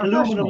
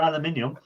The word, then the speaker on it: aluminium: No, we want even still, like aluminum is still is still or aluminium. I'm getting you goddamn Americans are making me say the word wrong.